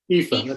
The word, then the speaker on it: Aoife: we've got, so I'm going to try and pronounce it, because is it Aoife? Aoife, that's it.